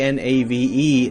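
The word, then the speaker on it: knave: spelling hasn't really changed we say k n a v e Nave like Nave n-a-v-e but still spell it in the most ridiculous possible way I have a feeling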